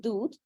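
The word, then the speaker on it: hadd: our crime Okay so number one is dude that's how you pronounce it uh in Islamic law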